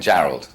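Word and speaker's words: Jarrold: it for Me Julian Gerald okay it is like it sounds I was like you know that looks like Gerald but I don't caral I I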